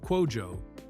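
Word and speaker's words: Kwadwo: In the Ganaian language, nana means king, while cuajjo, pronounced quojo, means boy born on Monday.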